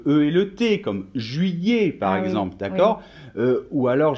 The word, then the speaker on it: juillet: g par exemple le et le thé comme juillet par exemple d'accord ou alors je sais pas